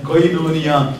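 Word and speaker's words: κοινωνία: அதை ப்ரொனவுன்ஸ் செய்ய வேண்டும் என்றால் கொய்னோனியா மலையாளத்திலே அப்படிப்பட்ட ஒரு சபை கூட காணப்படுகிறது.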